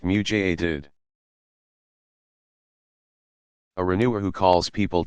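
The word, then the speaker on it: mujaddid: up for the community a muted pronounced mutated a renewer who calls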